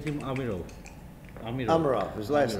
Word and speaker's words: Amirov: How do you pronounce his name, Sungulu? I said him Amirov. Amirov, his last name.